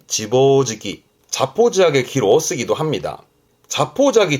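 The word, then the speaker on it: 自暴自棄: 자포자기 발음은 지보지기. 지보지기.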